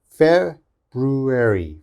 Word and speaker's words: February: confused with this okay now let's focus on the f this is an f sound your teeth should touch your lip and this is a b sound okay so we should think of this as fat fat brew brew erie february february february okay it's very difficult february february so it